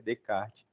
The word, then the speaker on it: Descartes: nomes né ou vergonha quando eu falei Descartes meu Deus do céu vergonha mas eu aprendi né que é the Card mas temos o home